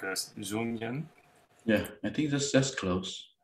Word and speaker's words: Dung Nguyen: Actually, I want to emphasize the way to pronounce his name. I think he can correct us. Dung Nguyen.